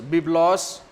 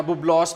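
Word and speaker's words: βίβλος: یونانی زبان کے لفظ بیبلوس یا ببلوس بھی کچھ لوگ اسے پروناؤنس کرتے ہیں، اس کا تلفظ جو ہے ادا کرتے ہیں ببلوس، لیکن کم لوگ ہیں جو کہتے ہیں، زیادہ تر جو یہ لفظ بولا جاتا ہے یا سنا جاتا ہے وہ بیبلوس ہے۔ تو بیبلوس ہے، اسی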